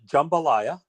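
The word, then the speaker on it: jambalaya: helper than it is actual um so we pronounce it jumbalaya um and I'm not saying that to criticize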